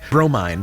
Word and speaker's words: Bromine: Bromine, pronounced bro, mine.